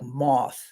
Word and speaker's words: maith: Now, if you talk to somebody that speaks Gaelic, they'll say, well, what are you talking about? They pronounce it something like moth. Okay. So technically when I say Maith, it's incorrect, but I'm not trying